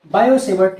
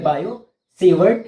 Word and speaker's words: Biot-Savart: बायो-सेवर्ट लॉ, BIOT-SAVART लॉ। तो यहाँ पर बायो में टी साइलेंट है, ठीक है, बायो-सेवर्ट लॉ।